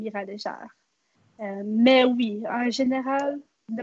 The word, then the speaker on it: Léger: Au Québec, si c'est écrit comme ça va être léger. Mais ici, au Nouveau-Brunswick, si c'est écrit comme ça va être légère. C'est un nom acadien.